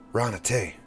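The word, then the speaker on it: Raana Tey: Ranate. Rhymes with run away.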